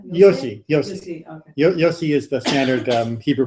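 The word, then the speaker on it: Yose: So, I mean, I never met him, so I don't know how he says it, but Yossi is the usual way we say it.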